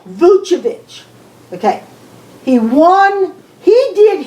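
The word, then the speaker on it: Vučević: Orlando shocks Chicago behind Oladipo and Vucevic.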